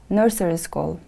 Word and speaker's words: nursery school: children very good now repeat after me please nursery school nursery school the stress is on the first syllable nursery school let's look at